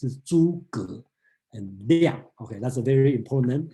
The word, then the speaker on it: Zhuge Liang: And the other important person's name come out is Zhuge Liang. We will talk about this one. Don't pronounce it as Zhu or something. It's Zhuge and Liang.